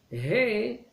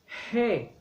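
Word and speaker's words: ה: He, c'est comment on le prononce comme il faut. Quand vous allez mettre la main vers votre bouche, c'est comme vous soufflez. He.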